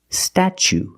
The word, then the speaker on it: statue: chicken and change CH so pronunciation statue statue for the first vow we use the short a like black cat sta then we use the CH sound stat statue for the second syllable we use the long ooh like Boot and moon ooh together statue this is the Statue